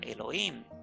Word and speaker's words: Elohim: Elohim, todavía hasta el día de hoy se pronuncia Elohim, pero que no correspondía a Yahvé, sino a otro dios o a otra deidad.